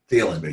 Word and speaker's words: Thielen: Thielen, yes.